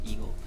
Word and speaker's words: EGL: company eagle ye egl just pronounce it as eagle uh eagle edutainment and